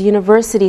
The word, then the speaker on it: university: We say a university because university sounds like a Y sound.